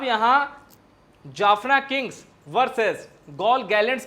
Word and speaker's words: Galle: इसको कई जगह हिंदी में गाले भी लिखते हैं। लेकिन इसका जो उच्चारण है वो गॉल होता है।